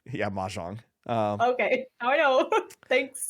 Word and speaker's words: mahjong: I don't even know how to pronounce. Yeah, mahjong.